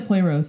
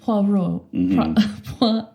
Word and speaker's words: Poirot: Like a Poirot thing.